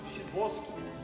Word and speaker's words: Sadowski: Sadowski, Shiboski. A chance. Pronounced Shiboski.